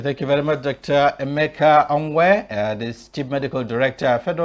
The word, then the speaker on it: Emeka: Just to correct that, you don't pronounce my name completely, it's Dr. Omwe Emeka.